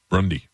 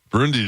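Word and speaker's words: Brunei: Brunie, Brundy, Brunie, Brundy, Brunie, Brunie is good. Brundy's out.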